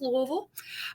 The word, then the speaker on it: Louisville: Catholic liberal arts university in Louisville Kentucky it's pronounced Louisville um and it's pronounced bman um so I